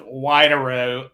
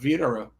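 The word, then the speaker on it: Widerøe: they yeah we'll see I would start with wide arrow and then somebody would remind me that I'm supposed to pronounce that as a V and then I'd go with Vitara right like BMW is BMV so the wsv is what we say in Norwegian that's where I grew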